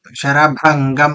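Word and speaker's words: शरभंगम्: भंगम दद सरभंगम ददशः ये श है ना अब आराम से देखिए हां अब आप आपका उच्चारण जो है वो सा की तरह सुनाई दे रहा है शभंग शरभंगम तदश शभंगम दद बहुत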